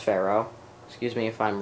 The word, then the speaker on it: Ferro: I believe it's pronounced Ferro.